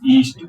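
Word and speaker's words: east: एस टी लगा है, यहाँ पर ए का जो उच्चारण है वो आ नहीं करेंगे, इसको बोलेंगे ई ए एस टी, ईस्ट। ईस्ट मीन्स पूर्व दिशा।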